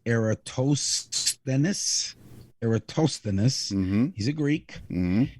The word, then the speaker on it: Eratosthenes: His name is spelled Eratosthenes, which is pronounced Eratosthenes.